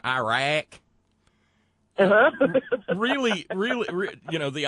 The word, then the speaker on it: Iraq: and he said it's ear rack and he pointed to his ear and because this isn't a 90 and he said it's Iraq pronounce it that way and um I just